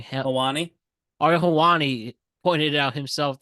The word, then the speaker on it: Helwani: very forced, cringe, and Ariel, how do you pronounce the name? Helwani.